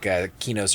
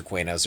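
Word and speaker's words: Qeynos: see antonica and antonica well either way it's like kenos or quos or sour so it's however you first heard it pronounced honestly I say I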